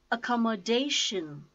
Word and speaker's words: accommodation: know five syllabic words accommodation accommodation call moe - and the stresses on - fourth syllable - accommodation accommodation administration